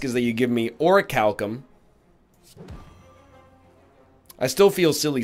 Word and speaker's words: orichalcum: that I ask is that you give me orichalcum I still feel silly saying it by the